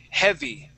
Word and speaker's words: heavy: What I mean by that is that A, we're going to act like it's not there. Okay, and this the E in this word is going to have a short E sound. That short E is eh. Okay, so the word is heh, heavy.